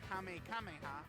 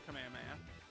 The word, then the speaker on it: Kamehameha: super attack is the kame kameha remember it's goten mispronouncing the kamehameha uh and he gets